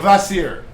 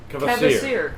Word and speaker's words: Kvasir: Kvasir. Kvasir. I believe that's the way you pronounce it. I tried to listen to it earlier. Usually the KV in Scandinavian Kva. is Kva. It's just Yeah.